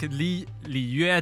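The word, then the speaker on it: Liyue: the real pronunciation. Like Li Yue, they say it Li Wei.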